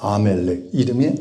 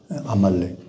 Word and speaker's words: 아말렉: 그래서 아멜렉 이름이 아말렉이죠. 근데 발음이 자꾸 아멜렉이 아말렉.